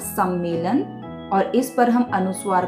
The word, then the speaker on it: सम्मेलन: में नहीं बदलेंगे तो इसको बोला जाएगा और पढ़ा जाएगा सम्मेलन और इस पर हम